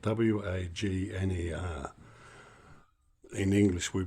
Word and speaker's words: Wagner: Uh, what we got here is a Music Masters Radio Company model Vagnner. That's spelled W A G N E R.